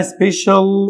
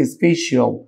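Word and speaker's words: special: خاص او عرض مميز هي اسمها سبيشال وليست سيش انا عندي في ملحوظه لغويه بتقوللي ان لما يكون عندي السي اي اي او بمعنى اصح السي لو ج بعديها بتتنطق الش دي بيبقى صوتها بتتنطق طيب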